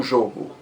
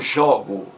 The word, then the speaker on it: jogo: massa pronúncia é diferente jogo o primeiro ó é fechado substantivo o jogo já o verbo é aberto eu jogo jogo então você vê que